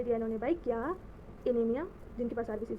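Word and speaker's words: anemia: इनेमिया वैसे correct pronunciation तो इसकी एनीमिया होनी चाहिए, बट हम इनेमिया ही बोलेंगे क्योंकि कन्फ्यूजन हो जाएगी, इंडियन एक्सेंट में ही बोलेंगे अपने।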